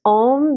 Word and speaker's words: Om: Even when we think of it as Om, there should be a change in how you hear or how you perceive the sound of the mantra.